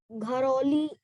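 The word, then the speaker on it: Garhwali: But ma'am, it is ma'am, it is pronounced as Gharoli, and we write Garwali.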